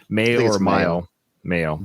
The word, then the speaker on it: Mayo: Mayo, like mayonnaise.